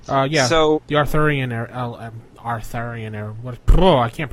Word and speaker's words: Arthurian: Arthurian era. What? Oh, I can't pronounce it.